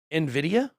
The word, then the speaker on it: Nvidia: twin dogs or something do you say this Nvidia look at that what you said it right